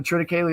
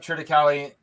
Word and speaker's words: triticale: And I did look up Triticale. How are you pronouncing it? Triticale. Yeah, and there's several ways to say it. You can say Triticale, Triticale, but I guess the